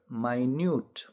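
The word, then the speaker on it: minute: जनाउने एकाई मिनेट तर यसैलाई फेरी अर्को तरिकाले उच्चारण गर्यो माइन्यट भन्यो भने यो चाहिँ सानो मसिन न भन्ने बुझिन्छ।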